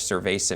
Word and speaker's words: Ser-Veh-Zah: Now, of course, if you know your Spanish, Ser-Veh-Zah means beer, but it's spelled differently, as you're going to see there. So. I think they decided to go with the phonetic spelling so that we could all appropriately pronounce the new tap room that's coming here in the Arts District.